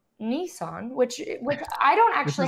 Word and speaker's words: Nissan: for Nissan there are also some weird he pronounces Nissan like three different ways in the movie he pronounced it yeah he pers in like one of the first ways he pronounces it he calls it Nissan and then and then and then he settles